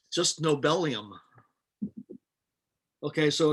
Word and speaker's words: nobelium: It's just nobelium. Okay, so it's nobelium because nobelium has Z equal to 102, and the configuration has 102 electrons, right?